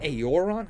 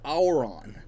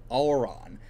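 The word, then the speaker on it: Auran: uh aora i or uh aoron is it aeoron how do i pronounce this thing hold on not even close it was auron auron i wasn't even close to it but yeah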